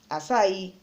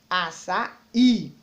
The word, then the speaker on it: açaí: Açaí, ele tem acento, facilita a minha vida, é a última sílaba, então ele é oxítona.